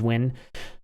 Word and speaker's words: Nguyen: Nguyen or something like that is Win.